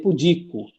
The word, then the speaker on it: pudico: com dois no caso lembrando aqui é paroxítona né então você lê paroxítonas só os fortes teria que tá nude então seria pudico certo ou tá errado